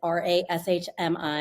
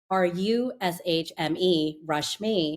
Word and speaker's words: Rashmi: So my name is R A S H M I and most people if they look at the name will say Rashmi because it's an A. But phonetically it's said as R U S H m Rashmi.